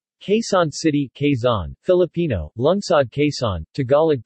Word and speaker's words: Quezon: you case on city Kaizen Filipino lungsod case on Tagalog pronunciation blue sod case on Spanish ciudad case